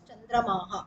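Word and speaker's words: चन्द्रमाः: So it is like Chandramas. It becomes main word is original word is Chandramas. When we pronounce it is Chandramaha.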